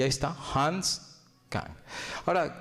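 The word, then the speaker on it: Küng: Y ahí está, Hans Kahn. Ahora, Kuhn, ¿verdad? Se pronuncia.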